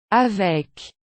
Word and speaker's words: avec: For now, concentrate on pronouncing the endings of words like these. Un club. Avec.